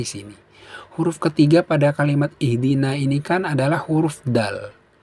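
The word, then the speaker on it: اهدنا: Bacanya bukan ahdina tapi ihdina ya sahabat ya.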